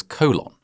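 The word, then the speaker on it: Colón: It was in a region known as Colon, which, just to clarify, is not me mispronouncing Cologne. It was actually called Colon.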